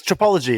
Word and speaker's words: Tripology: really cool thank you it rhymes with Biology yeah which you have to say to people sometimes I go it's tropology they go what I